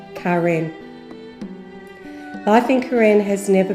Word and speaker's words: Karen: Karen is pronounced Karen.